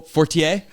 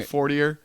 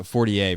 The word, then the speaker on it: Fortier: yeah that I mean that's the way it's supposed to be pronounced my dad and my sister like don't care they're like 4er but I wouldn't go 4er I just go 4ier versus like Fortier oh oh oh no